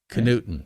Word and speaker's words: Knudten: in the beginning but let me make sure i get it right this time d p k newton newton that's right can you follow that diphthong yep this is a